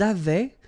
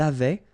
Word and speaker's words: avaient: Ils avaient, so remember, even if we've got this A-I-E-N-T, well, we don't pronounce it, or we don't pronounce this E-N-T, so we get avait, okay, phonetically. Ils avaient, okay, and then elles avaient.